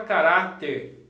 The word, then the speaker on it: caráter: A palavra caráter aqui, ó. Paroxítona terminada em R.